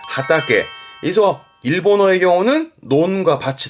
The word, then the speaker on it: 畑: 논을 의미한다는 거 밭은 화전 요게 밭이었다 거죠 발음은 하타게 그래서 일본어의 경우는 논과 밭이 다름이 있다라는 거